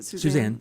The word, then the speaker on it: Susann: Well, we didn't mention the fact that your mother, Susann, is that how you pronounce it? Susann, yeah, I Susann, thought maybe Susann yes.